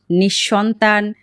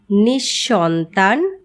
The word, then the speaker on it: নিঃসন্তান: তবে পদের মধ্যে যদি বিসর্গ থাকে তাহলে বিসর্গ পরবর্তী ব্যঞ্জন বর্ণটি দ্বিত উচ্চারিত হয়। যেমন নিঃশেষ নিঃসন্তান, নিঃসম্বল।